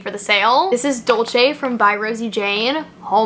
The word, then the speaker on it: Dolce: the sale this is Dolce from by Rosie Jane oh my God Dolce Dulce I've heard it pronounced both ways I think it's Dolce either way though all